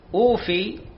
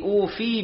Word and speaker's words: أوف: كلمة وأوفوا بعهدي أوف بعهدكم، أوف فمكسورة بدنيا، لا نقرأ خطأ وأوفوا بعهدي أوفي بعهدكم، غلط، أوفي بعهدكم وإياي فارهبون.